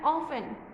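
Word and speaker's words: often: फिर है ऑफन, ऑफन में तो टी ही साइलेंट है, सिर्फ ऑफन।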